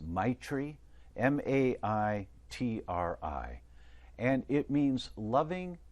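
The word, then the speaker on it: maitri: to say it correctly but i think it's my tree m-a-i-t-r-i and it means loving kindness and an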